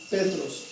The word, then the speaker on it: Petros: que tú eres Pedro, la palabra Pedro también fue una palabra de origen hebreo y se pronuncia Petros, significa piedra.